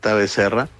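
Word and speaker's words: Bezerra: Well, then it's written in Portuguese, obviously, Rua Luis Becerra with a Z, Becerra 116 , Novo Tonovo, uh, Lins de Vasconcelos again. Rua Luis Becerra 116.novo is the second line and on the third line is Lins de Vasconcelos.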